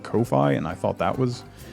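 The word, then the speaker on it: Ko-fi: to look at it the only person i've heard not pronounce it coffee i've heard a couple people say kofi but coffee is what i called it and then i heard a couple people call it kofi and i thought that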